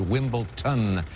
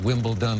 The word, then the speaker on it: Wimbledon: away from you Reed I'm I'm informed that you very clearly said Wimbledon not Wimbledon a few moments ago